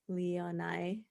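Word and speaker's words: Leane: I was glad that she trusted Swan and, how did MK pronounce it? Leonai.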